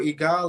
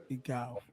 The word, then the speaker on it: egal: Egal, it means like it don't matter. Egal. Okay. Yeah, it's like it's spelled IGAL.